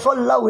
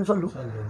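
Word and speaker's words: صَلَّوْا: Wal mala sallau, itu bukan sallu. Itu sering orang hatta diucapkan keliru, sudah kadung kulina sallu. Itu sallau alaika.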